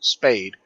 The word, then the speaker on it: SPADE: My first question was, how do you pronounce this AI's name? And obviously that is Spade.